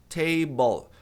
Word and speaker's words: table: Table. Se você não tá acostumado, você deve tá achando estranho, porque a maioria das pessoas pronunciam com som de u table.